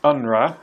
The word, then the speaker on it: UNRWA: The acronym is UNRWA. That's how it's pronounced. You don't pronounce the W.